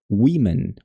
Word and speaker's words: women: Women, women, women.